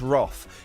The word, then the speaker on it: wrath: plent of other women wrath I'd say yeah I know but we're not American it's pronounced Roth It's Star Trek 2